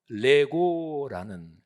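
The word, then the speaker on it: λέγω: 거지요 내가 말한다 이거는 발음은 똑같고 뭐 뜻까지 똑같은 건 아닌데요 레고라는 헬라어 발음입니다 우리 어린아이들이이 맞추고 노는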